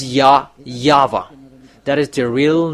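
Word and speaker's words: Yahweh: It's Ya Yava.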